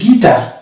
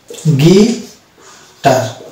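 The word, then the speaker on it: guitar: পরবর্তী ওয়ার্ড চলে আসে আমরা, এই যে এই ওয়ার্ডটা, এটা উচ্চারণ হচ্ছে গিটার। গিটার।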